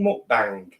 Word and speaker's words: mukbang: And welcome to a right smashing mukbang. Mukbang. Mukbang. That's how it's pronounced properly.